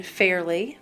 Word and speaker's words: Fairlea: hat in a nutshell it's because the West Virginia State Fair is in Fairly West Virginia that's why it's spelled f-a-i-r-l-e-a and um the state